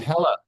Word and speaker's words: HeLa: I want to say okay and they're called Hela hel cells he hea e l a oh that's how you pronounce it okay today is the 16 24